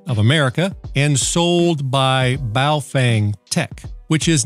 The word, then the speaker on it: Baofeng: America and sold by baofeng Tech which is not the same as baofeng commonly pronounced buff Wang and baofeng Tech is